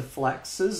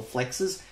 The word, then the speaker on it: Flax: There's a lot more hidden functionality compared to FLAX's or FLEX's. FLAX. I keep mispronouncing it. I think like flexing.